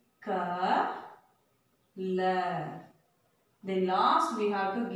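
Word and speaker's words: कल: So the last letter la, but we pronounced it by ill. How? Why? So because there is no long sound at the end of the word ma. And the a sound will not pronounce there. So we have to pronounce this letter ill.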